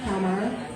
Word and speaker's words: Palmyra: Palmyra.